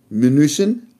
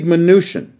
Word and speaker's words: Mnuchin: Washington, D.C., the United States Treasury with Steve Mnuchin. I said it right. With Steve Mnuchin.